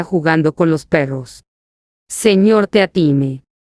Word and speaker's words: Teatime: Señor Teatime. Se pronuncia Tea-time, señor. Dijo Teatime, con solamente un matiz de reproche. Todo el mundo lo dice mal, señor.